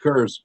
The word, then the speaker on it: Coors: we're good with curs. Yep, we like Coors. We got an upstate New Yorker over here pronouncing it the Oklahoma way.